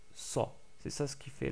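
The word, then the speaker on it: صَ: Donc on ne dit pas c'est, mais sa.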